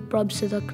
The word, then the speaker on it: Prabhsidak: year call my teachers they call me a prop seduct now it's neither acceptable nor appropriate for us